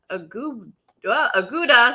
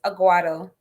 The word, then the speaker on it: Aguado: It takes people a while to get the pronounce, but it's Aguado.